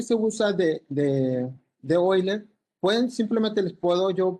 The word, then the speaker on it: Euler: Bueno aquí les puse oiler se pronuncia oiler porque es un nombre alemán Aquí está otra vez